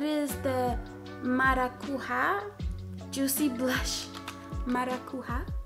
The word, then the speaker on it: Maracuja: Maracuja, I think it's pronounced.